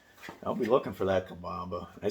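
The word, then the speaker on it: Cabomba: you anything about where to find largemouth okay kabamba ah kabamba okay i'll just kabamba is spelled c-a-b-o-m-b-a and uh just look that up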